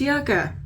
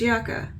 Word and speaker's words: Yucca: palette I swear I'm I hate that it is pronounced yaka but me and my husband Googled it it is yaka because we were debating it over Yuka or yaka because Yuka